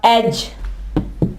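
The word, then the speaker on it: edge: इसके अलावा एज, किनारे को कहते हैं एज। यहां भी देख लें, डी आवाज नहीं दे रहा, एज।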